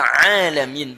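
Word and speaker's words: العالمين: Tidak pakai ain bacanya tapi pakai hamzah alamin.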